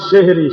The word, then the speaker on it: সাহরি: এটার আমার নাম হইলো সেহেরি সেহেরি মানে সেহেরি আর কি তো অরজিনালি সেহেরি শব্দটা ঠিক না অরজিনালি শব্দের হলো সাহরি আপনাদের সিলেটের মানুষও কোরআনের